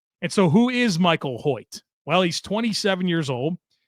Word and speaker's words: Hoecht: with the newest addition to the team Michael Hoy and folks that is how you say the